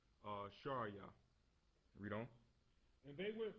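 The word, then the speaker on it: שרי: In Hebrew, it's pronounced Sharia.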